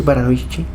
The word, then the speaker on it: Baranovichi: verano de 1942 en en baranovichi sí s pronuncia así baranovichi baranovichi sí baranovichi en el verano de 1942